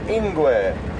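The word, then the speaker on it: ingwe: g a l a leopard are known as ingu which is i n gwe cheetah would be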